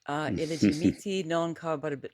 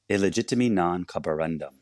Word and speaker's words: Illegitimi non carborundum: Illegimiti non carborabit. Okay, I'm going to say it correctly, okay? Say it for me. Illegitimi non carborundum. Which means what?